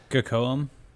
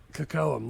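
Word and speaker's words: Kocoum: Uh uh Coam or however you say his name is. Kakoam. Kakoam.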